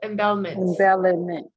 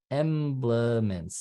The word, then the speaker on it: emblements: I would say emblements, but I could be wrong about that too. Emblements. Yes. It is emblements.